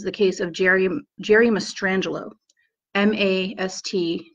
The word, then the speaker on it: Mastrangelo: case of Jerry Jerry Mastrangelo ma st it's spelt the way it sounds Mastrangelo SMAS T must RA